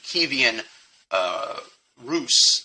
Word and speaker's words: Kievan Rus: I'm going to make sure I pronounce it correctly. by the Ukrainian pronunciation, Kievan Rus, at that time they're